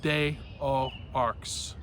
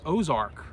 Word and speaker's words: Des Aux Arcs: a-u-x and then a-r-c-s day o arcs okay bay pronunciation um but i found out that that actually is pronounced ozark in french and shout out to